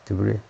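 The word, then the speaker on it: debris: 브 브리 쓰레기란 말이죠 브리 S 발음 안 하고 프랑스서 S 발음을 안 하고리 한다 이거죠이 세 번째 입니다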